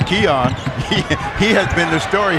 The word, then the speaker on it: Keon: And we learned how to pronounce his name. It's Keon.